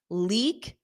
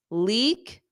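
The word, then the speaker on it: leek: cauliflower carrot of course carrot leak that long e eek eek leak leak sweet potato sweet potato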